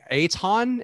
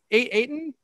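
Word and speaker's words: Eytan: his name because like i see e-y-t-a-n i'm like i don't know oh eitan is what no he said ayton eton you're still and you're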